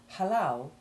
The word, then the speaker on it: halal: short A2 ivy sound, whereas halal usually has both syllables stressed and both have the short A1 sound.